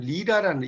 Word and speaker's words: 리라: 이 리릭이라는 건 어디서 왔냐면 리라라는 이게 이제 LYRE라고 써있는데 이게 리라라고 읽어요.